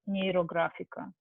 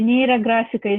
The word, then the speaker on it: Neurographica: This is the story, so and in his dream, he heard the word Neurographica. So I pronounce it as it is in Russia because it's a two Latin roots.